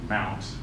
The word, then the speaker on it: MNT: Under the MNT directory, which is often pronounced mount, is usually where you can mount other file systems.